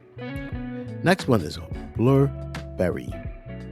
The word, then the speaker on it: Blubrry: Next one is Blubrry. It's spelled Blubrry.